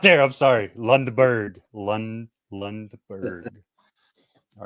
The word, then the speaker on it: Lundberg: Lundberg. Lundberg. I'm not of a German descent. I'm going to say that's like German or Swedish, potentially. I think. Yeah. So I'm not there. I'm sorry. Lundberg.